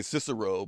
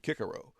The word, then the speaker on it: Cicero: pronounce the words so we say cicero but the latins you know the romans said kikerow what was it there